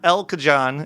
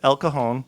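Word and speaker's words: El Cajon: You got La Hoya, not Ljala, not El Kajan, it's Elcohone.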